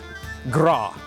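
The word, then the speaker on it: gràdh: a popular one its Gras GRA D H but the D is silent Gras is it a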